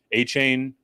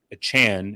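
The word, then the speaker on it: Achane: project week over week a chain a Chan excuse me we actually talked about this on Friday show and completely butchered it he has come out and asked to be rather clarified the pronunication as achan look he's he's gonna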